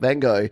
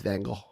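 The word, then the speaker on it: Van Gogh: I try to say vano correctly it's not vano it's vano but you have to kind of be Dutch to say it properly this is Ron Ward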